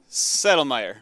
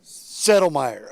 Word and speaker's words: Settlemire: Adam the sledgehammer sodomar how do you say your last name settlemire settlemire okay I'm I'm working